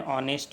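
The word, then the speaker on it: honest: Rule number 2, एक एन का प्रयोग उन शब्दों के पहले होता है जिनमें पहला अक्षर एच साइलेंट हो और जोर वावे पे दिया गया हो। जैसे एन ऑनेस्ट मैन, N honourable man, an hour etcetera.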